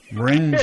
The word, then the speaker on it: Borinquen: So Borinquen. there you go. Okay, that's how you pronounce it.